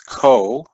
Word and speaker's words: cotangent: And the last one is COT, which means cotangent. And we pronounce this as cotangent.